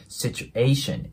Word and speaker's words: situation: ね Situation でねここの A の部分もシチュエーションていう感じで伸ばすんじゃなくて Situation A の音でね発音してもらえたらと思います Situation で as Her